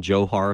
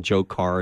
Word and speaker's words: Dzhokhar: you don't let mean some people call him Johar some column Dzhokhar it's really you know